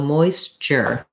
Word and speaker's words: moisture: we're going to have this t is actually more of a ch so moisture so rather than writing